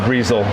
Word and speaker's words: Brazil: the return ability of Breezel. They think they can probably get more from it. And let's see if they're able to do that. We know it's Brazil, but he likes to pronounce it Breezel.